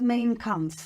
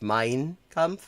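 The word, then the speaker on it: Mein Kampf: aspirational aspirational so was main com yes no okay first of all she mispronounced that it's mine com second of all I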